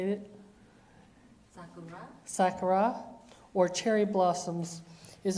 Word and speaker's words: Sakura: Sakura.